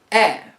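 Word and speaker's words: Е: the ukrainian alphabet then there is the letter e which is pronounced like the e in met just after that is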